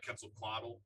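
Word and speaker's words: Quetzalcoatl: I was a kid I was interested in kle quaddle I think I pronounced that right yes yeah the uh the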